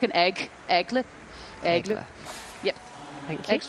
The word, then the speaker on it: Aigle: Aigle, just like an egg. Aigle. Yeah. There we go. I used to say Aigle, which I think was completely wrong.